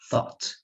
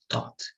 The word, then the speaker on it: thought: them are very similar the first one is taught the second one is thought okay so thought thought thought if you don't pronounce thought correctly you're going to say this Dot okay so let's repeat